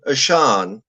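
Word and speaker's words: Achane: said it that it's how it's pronounced is Devon asan not okay aan a chain is a nickname actually though but Devon aan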